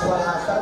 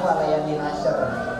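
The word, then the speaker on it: والعصر: sudah bisa memperbaiki bacaannya habis Wal asr tadi Innal insana lafi khusr bukan way asr kita coba ya coba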